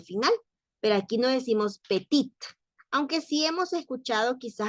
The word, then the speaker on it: petit: pero aquí no decimos petit Aunque si hemos escuchado quizás alguna vez decirle a alguien petit usted es petit o sea como de talla s verdad y este no se pronuncia la t por lo tanto no